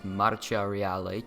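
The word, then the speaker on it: Marcia Reale: out of 10 pronounced in Italian as maraca reali translating to Royal March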